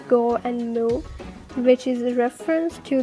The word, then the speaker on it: Gomu: is because in japanese 5 and 6 can be pronounced as go and moo which is a reference